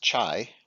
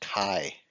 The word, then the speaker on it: chi: I know it looks like it should be pronounced chai like the T chi-square but it's not it's pronounced Chi so we'll be looking at the chi-square test